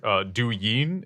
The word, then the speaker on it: Douyin: Douyin is the name of the app. I think I'm pronouncing that right.